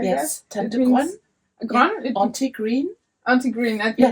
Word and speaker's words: Tante: Tantr is it pronounced correctly like that? Yes. Tantr Auntie Green.